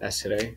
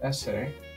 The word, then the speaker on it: essere: For now, let's show the verb essere, and let's get intertwined with the verb and understand how it works. So essere, two S's, very important to pronounce both of them.